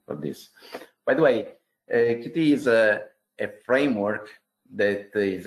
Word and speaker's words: Qt: Now we'll go through the definition of QT and what it's involved too. First of all, I beg your pardon because actually the correct pronounce of this framework is Qt, but I'm so used to say QT that you will hear me just say QT.